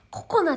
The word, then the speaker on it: ココナ: んだよねこれいつもココナちゃんねこれでココなって読むのココナちゃん心にあやと書いてココナちゃんココナちゃんあ